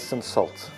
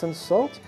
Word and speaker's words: Cinsault: And today we're starting off with the rosé from Louisville, the Cinsault, how they would say Cinsault. Very French, but in South Africa they would pronounce it as Cinsault.